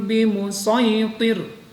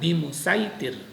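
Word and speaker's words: بمصيطر: Kita perhatikan ini awalnya tertulisnya dengan huruf sin tetapi membacanya dengan huruf shad. Jadi kayak terbalik dengan yang sudah-sudah. Lasta alaihim bimusaitir. Nah, tulisannya bimusaitir. Nah, itu diganti dari huruf sin menjadi huruf shad.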